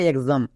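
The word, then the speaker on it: exam: কি হয়ে যাবে গজ যেমন দেখো এক্সাম এক্স এর পরে এ আছে এ ভাওয়েল এক্স এর পরে এ ভাওয়েল থাকার জন্য এক্স এর জন্য কি হবে গজ তাই এটা কি হলো এক্সাম এক্সাম নেক্সট এক্সিট এখানেও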